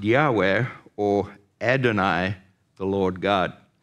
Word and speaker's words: Yahweh: represents the four letters YH Wy it's usually pronounced Yahweh or adoni the Lord God we learned that